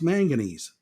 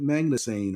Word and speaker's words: manganese: was not magnesium but he doesn't know how to pronounce manganese so he calls it magnan or whatever this guy does not